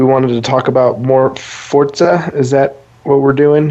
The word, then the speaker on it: Forza: In English, it reads as Forza. Yeah, but the correct, how to say it correctly, pronunciation is Forza. It's Italian.